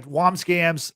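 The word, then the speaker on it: Wambsgans: You have her husband, or maybe her ex-husband soon, in Tom's Wobsgams. Is that how you say his name? Yeah, Wobsgams, who's played by Matthew Macfadyen, which Matthew Macfadyen,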